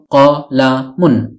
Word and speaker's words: قَلَمٌ: প্রদান করে থাকে ফলে কলামুনের অর্থ দাঁড়ায় একটি কলম অনেক সময় আমরা কলাম বলে থেমে যাই শুধু কলাম উচ্চারণ করে মুখস্ত করে থাকি অর্থাৎ ওয়াকফ করে ফেলি মানে শেষের তানভীনুনটি উচ্চারণ করি না কিন্তু এখন আশা করি